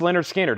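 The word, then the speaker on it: Lynyrd Skynyrd: that we have Leonard skinnard their debut album pronounced Leonard skinnard everything in here is new and sealed Freebird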